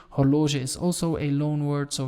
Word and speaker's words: horloge: as in english horloger again g which is pronounced as a french g hologen is also a loanword